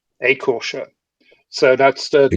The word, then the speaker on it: Écorcheurs: please do it for me because I cannot pronounce this, although you told me before. No problem. It's Écorcheurs. Écorcheurs.